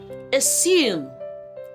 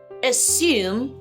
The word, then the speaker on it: assume: These two words are not pronounced with the z sound.